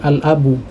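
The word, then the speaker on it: الأب: ini huruf lam, ya, karena di huruf lam ini kita ucapkan dengan sukun, ya, sehingga dia menjadi alif lam qamariyah, ya, jadi kita membacanya dengan al-abu.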